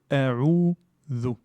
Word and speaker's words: أعوذ: Ici, nous avons un allongement naturel de deux temps. A'udhu. Le zel, c'est une lettre qui doit être prononcée donc avec la langue. Il faut que la langue touche les dents. Et c'est l'équivalent de the en anglais.